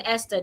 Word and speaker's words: Esther: Like in the word Esther, there is T and H in Esther, the H is silent.